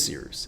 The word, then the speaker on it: Cyrus: My name is Seers. It's spelled like Cyrus, pronounced like Seerooster. Just take out the ter.